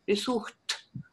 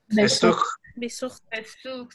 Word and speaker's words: besucht: Hay que pronunciarlo muy fuerte. Besucht. A ver. Besucht. Besucht. La T también es uno de los sonidos, de los tres sonidos que decimos que son explosivos. Entonces, casi como escupiendo.